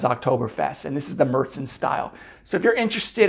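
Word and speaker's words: Märzen: It is pronounced Marzen, not Marzen.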